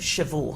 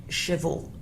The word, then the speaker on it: chevaux: Because you've got a silent letter there at the very end of chevaux, haven't you?